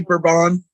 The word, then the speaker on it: Bourbon: Right off Bourbon Street, I believe. Anytime. Did you say Bourbon?